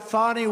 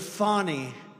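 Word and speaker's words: Fani: been destroyed because of fonnie f a n i fonnie you have to pronounce it fonnie it's called Fanny you have to pronounce fonnie I don't know how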